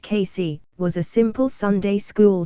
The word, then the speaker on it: Cayce: according to Edgar kisay Edgar kisay pronounced casy was a simple Sunday